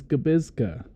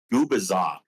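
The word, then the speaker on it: Gubicza: And um, my brain says Gabisa, but apparently it was Gabbaza. No, Gubaza. Gubaza. See, I got it wrong. It's not an easy name.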